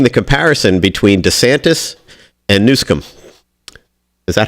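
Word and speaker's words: Newsom: and I'm making the comparison between DeSantis and nusum is that how you pronounce it yeah exactly yes I think I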